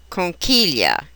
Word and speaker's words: conchiglia: When the letters GLI appear within a word, the G is almost always silent. Example, figlio, conchiglia.